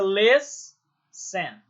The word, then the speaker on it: listen: Percebam que na separação silábica fica listen. Listen. O les é que é a sílaba tônica. Então, terminou em consoante, vogal, consoante, T-E-N, mas a sílaba tônica é o les e não o ten.